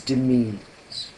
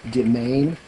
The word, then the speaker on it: demesne: The word we're going to use is demesnes.